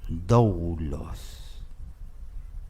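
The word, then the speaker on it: δοῦλος: de tiempo la palabra siervo en griego se pronuncia dobulos Qué significa esclavo la Biblia Kim James una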